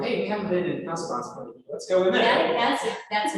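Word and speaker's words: Casaubon: Because I've read it so many times, even now I mispronounce his name, it's Casablanca.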